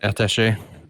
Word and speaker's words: attaché: How do I pronounce that? Attaché.